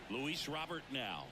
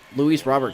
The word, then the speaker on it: Luis Robert: here is Luis Rober Lu Robert that's actually not correct I've heard Luis Robert talk in an interview and he said his name's pronounced Luis Rober I guess it's just